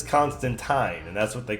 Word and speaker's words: Constantine: Constantine rhymes with wine." So apparently it's Constantine.